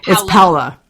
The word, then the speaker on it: Paola: at Halawa right is paola yeah I think you kissing Paulo but it's Paola so I actually have